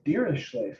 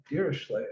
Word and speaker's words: Dirichlet: Dirichlet. I don't remember Dirichlet's first name. Some people call him Dirichlet, Dirichllet, Dirichlet. If you think of him as a Frenchman, you pronounce it Dirichlet.